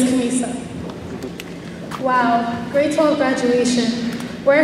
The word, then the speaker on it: Khamisa: Some of you may know me as Khamasia, Khamisa, Kasima, Shamisa, or even. But just to be clear, my name is Khamisa.